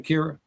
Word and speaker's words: Kira: I want to get Kira's take on it. Am I saying it right, Kira? Yeah. Yeah. Kira.